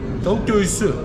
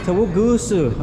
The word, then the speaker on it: tavuk göğsü: How do you pronounce tavuk goksu? Tavuk göğsü. Gusu. Bravo. Okay, tavuk gusu. Okay. Yeah, difficult for English speakers.